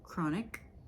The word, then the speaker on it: chronic: elements tips on pronunciation CH sounds like k for example chronic PS sounds like s